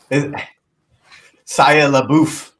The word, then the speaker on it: Shia LaBeouf: Shia LaBeouf. That's how you pronounce it, Rob.